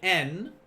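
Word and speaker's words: 円: you're going to say n at the end of the number now we reckon in english we would say yen but in japanese they would just say n it is pronounced as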